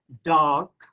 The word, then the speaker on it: dark: of this rule, that if R is followed by any consonant, then R becomes silent. Or if R comes at the end of any word, then again R sound is silent. That's why I'm pronouncing it as dark, star.